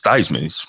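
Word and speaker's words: Theismann: He says, "Joe Thesman." He then they told him from now on it's Thyman. Why is it Thyman? And they said, "Uh, it's going to be Thyman to rhyme with Heisman."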